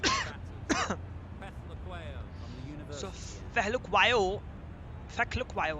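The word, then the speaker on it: Phehlukwayo: Feklukwayo, I think it's Feklukwayo. Wait. If I'm seeing his name, it can be pronounced as Fehlukwayo. Fehlukwayo. So Feklukwayo, the commentator is saying as Feklukwayo, but I think it's Fehlukwayo.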